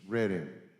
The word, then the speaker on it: Reading: And it's Reading. You know, it's spelled like reading, but it's Reading.